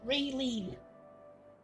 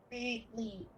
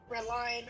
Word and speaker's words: Raylene: Yeah, my name is pronounced, if you're wondering, Raylene. Raylene. With the emphasis on the second half. A lot of people would say Redline or Redlin.